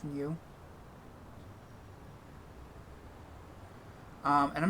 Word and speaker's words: Gnu: King new king gnu I assume it's called It's pronounced new um and I'm not